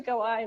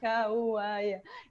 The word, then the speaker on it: Kauai: It's actually Kauai, not Kauai.